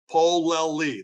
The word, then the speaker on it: Polelle: My author's name is, standing for, my first and middle name, Polelle, 3 syllables. Polelle, that's P like in Peter, O-L-E-L-L-E.